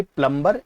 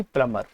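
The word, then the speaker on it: plumber: Here B is silent, तो it will not बी प्लम्बर, it will be प्लम्बर।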